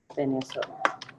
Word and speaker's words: Taenia: Tenia. Se escribe esta y se pronuncia tenia.